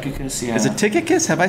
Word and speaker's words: Tychicus: The Y would be a U sound.